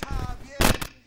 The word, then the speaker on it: Javier: It's Javier. It's pronounced like an H.